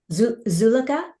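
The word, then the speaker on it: Zuleyka: How do I pronounce the actress's first name? Zuleka.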